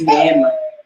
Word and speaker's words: neema: Grace is neema. Neema. They say that right? Like N. Give me a break. Is it moi? No, Neema. just neema. Neema. Right. Ma, like ma.